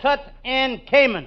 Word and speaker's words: Tutankhamun: It says Tutankhamun.